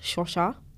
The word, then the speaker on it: Svosva: So I had to ask, like, so I asked my family group chat, like, it's actually pronounced Shosha. Okay. Like from a Shona perspective.